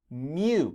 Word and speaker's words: mu: But some cats, it's not meow, but some cats make the sound of mu.